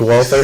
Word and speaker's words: Walther: manages Walther wther always manages to make exceeding pronounced Walter singly good triggers I say the trigger that's